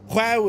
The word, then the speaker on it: João: So João is pronounced, well, it's pronounced João, because I knew a dude from Portugal and his name was João Vieira.